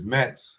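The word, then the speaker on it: Matz: uh CI Bean lawyer it's Mets but it's spelled Ma TZ she's a good lawyer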